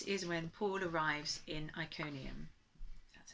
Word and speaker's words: Iconium: Today we're looking at Acts 14, and this is when Paul arrives in Iconium.